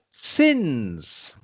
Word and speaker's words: sins: sign during his life sins it's pronounced Sins not to be confused with signs uh and this is